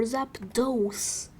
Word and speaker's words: Zapdos: First, let's search for Zapdos. Or Zapdos. Because Dos is pronounced like this.